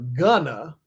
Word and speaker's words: Gunna: Fellow rapper Gunna, which would be an African-American pronunciation of gunner.